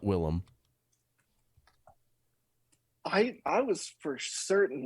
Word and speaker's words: Willem: he changed his name though so it is pronounced willem but like yeah if you if you're calling